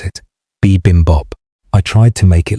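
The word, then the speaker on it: bibimbap: I looked up how to pronounce it. Bimbop.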